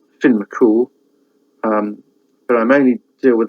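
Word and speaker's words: Fionn mac Cumhaill: Unlike Welsh, which is sort of you pronounce every letter, Irish, they seem to bung in half a dozen letters when one will do. So Fionn looks like Fionn McCumel, but it's Finn McCool.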